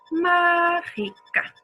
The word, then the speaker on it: mágica: No es la última, mágica, no es la última, no es la siguiente, ji, es ma, mágica.